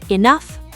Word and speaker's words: enough: For gh as f. Laugh. Tough. Rough enough. Cuff.